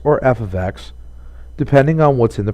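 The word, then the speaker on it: f(x): X even though we're using parentheses this is pronounced as f of X or function of X your new notation would look like this the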